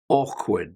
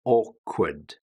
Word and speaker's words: awkward: Awkward. This is one of the most difficult ones because it doesn't sound anything like it's written. Awkward.